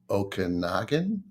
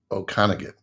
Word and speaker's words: Okanagan: film school in Vancouver oh it the interior then it's Okanagan or Okanagan you were saying it right I was correcting you